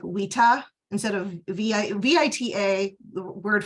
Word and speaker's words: vita: So U and V were interchangeable because in the classical Latin, a V is actually pronounced as a W, like a W. So you would say like vita instead of VITA.